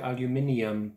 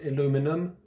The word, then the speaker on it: aluminium: the words there because we call it aluminium because i think there's an extra eye in the way it's spelt in the uk but aluminum for you guys sorry if this is